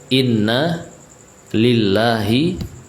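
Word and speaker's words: إنا لله: lillahi Ma akh khoda tapi Inanya di sini enggak panjang ya kalau dalam ayat itu bacanya Inna panjang kalau ini pendek Inna lillahi Ma akhwat terus Wain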